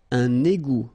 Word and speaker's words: égout: Un égout. Okay, little link between the two. Un égout. Final T not pronounced.